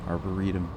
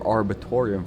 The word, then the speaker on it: arboretum: Listen to that pronunciation. Arboretum. No more arbitorium for this man.